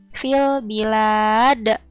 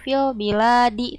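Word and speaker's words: في البلاد: Dan karena ada di akhir ayat, maka si dalnya ini dibaca sukun. Yang tadinya harakatnya kasroh dibacanya di, tapi karena di akhir ayat maka dibacanya jadi sukun. Fil bilad. Jadi dibacanya bukan fil biladi tapi fil bilad.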